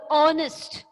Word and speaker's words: honest: If the word starts with a consonant H, but it has a sound of a vowel sound. Have you understood? Or the H is silent.